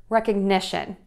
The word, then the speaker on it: recognition: This word really throws people off because we shift the syllable stress to the syllable before the shun. So I have a class on this concept as well if you want to take a look at that. So this word is going to have four beats, four syllables, but we're going to shift the word stress from the rec to the n.